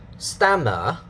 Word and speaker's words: stammer: Stammer, dada. Okay, syllable mark on the first syllable.